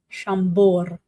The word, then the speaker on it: Chambord: Okay, so the D is silent. Yeah, I just said that live. Okay. Chambord.